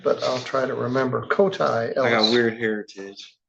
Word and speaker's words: Cody: but yes.